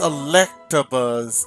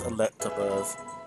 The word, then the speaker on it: Electabuzz: Oh, I always pronounced it wrong over the years. It's Electabuzz. I always add the R at the end. After the T, they talk about Electabuzz. It's Electabuzz.